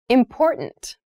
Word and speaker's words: important: pronunciation of this word that first t is actually reduced it sounds more like a d in fast speech water is important to